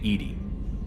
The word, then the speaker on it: EDI: Why are you named Edy? EDI is the phonetic pronunciation of EDI.